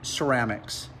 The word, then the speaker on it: Ceram-X: lift up that buffer this is the ceramics its spell it's kind of plan words it's like ceramic coating but it's ceramics so you just pronounce it ceramics so hold that what